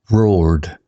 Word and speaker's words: roared: Roared sounds like ored, like sword without the sw.